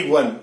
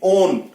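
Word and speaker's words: -one: हिंदी में इसका जो प्रोनाउंसिएशन है वो ओन आएगा, ना कि वन। ये ध्यान रखना आपने, ओन।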